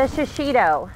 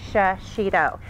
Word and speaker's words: shishito: So enter the shishito, three syllables, you can't forget it, shishito.